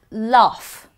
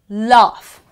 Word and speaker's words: laugh: GH sometimes can be pronounced as F. Laugh. You don't say laugh. No, it's not laugh or lug. It's laugh. Laugh.